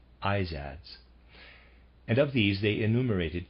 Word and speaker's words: Izads: the spots readers aside that's how i'm going to pronounce that i z a d s izadz and of these they enumerated 28 to 31.